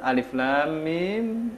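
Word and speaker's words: ألم: Kita tidak dapat menerjemahkannya, dia dibacanya Alif Lam Mim. Dibaca panjang, Alif Lam Mim.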